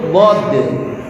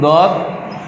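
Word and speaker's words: ض: Dari mana makhoritnya? Kita lihat makhoritnya adalah dari ihdai hafatai lisan au huma ma'an ma'a ma yuqabiluhu. Ini kalau bahasa Arabnya Pak, minal adros.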